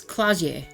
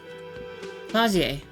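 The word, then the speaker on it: Klaasje: disco alium so uh trying to not mispronounce her name it's claer not CLA claer we spoke with her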